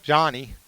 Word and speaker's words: Yanni: to Johnny this afternoon his uh name is spelled y n ni but he pronounces it Johnny so hopefully I'll try